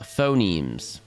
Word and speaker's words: phonemes: Also, phonemes is pronounced phonemes.